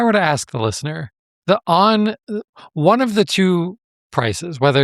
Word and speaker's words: Onn: is to buy a device from ON. That's spelled ONN.